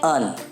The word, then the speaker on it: an: Indefinite article an is pronounced as un.